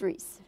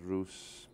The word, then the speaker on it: Rhys: that it's going well what kinds of pronunciations do you hear of your name oh i've had ruse bruce rice russ you know you name it you name it with an r i read that do